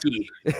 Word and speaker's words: Bobrovsky: I remember Mike and I, you told me I have to pronounce it that way. Don't think I forgot that. Bobrovsky.